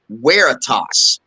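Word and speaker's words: veritas: uh wrote Lux at weitas and by the way it is pronounced with a W not a v uh and that translates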